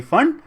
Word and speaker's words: Pfund: Next is फंड. देखो, फंड होना चाहिए 5 पे एंड, स्पेलिंग P और FUND, फंड, P साइलेंट है.